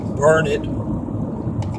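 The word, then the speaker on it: Burnet: burn it burn it b-u-r-n-e-t pronounced burn it darn it can't you learn it and one thing good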